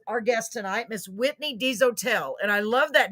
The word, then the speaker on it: Dezotell: Ladies and gentlemen, I want to introduce our guest tonight, Miss Whitney Dezotell. And I love that name because it's actually pronounced the way it looks like it would be pronounced.